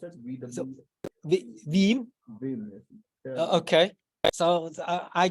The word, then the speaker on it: Veeam: VM, how you pronounce it? VW. Veeam.